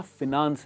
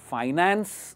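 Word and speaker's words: finance: And generally ह्याची pronunciation आहे ना फिनान्स आहे, फायनान्स नाही आहे. त्याचं राईट प्रोनन्सिएशन आहे फिनान्स.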